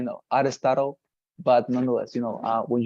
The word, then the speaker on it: Aristotle: And second thing for all of you, the pronunciation of the word Aristotle, Aristotle, yeah, it is difficult, I know, Aristotle, but nonetheless, you know,